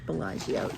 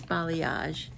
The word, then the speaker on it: balayage: balayage balayage think and i keep wanting to call it bellagio it's not bellagio it's balayage and it is 80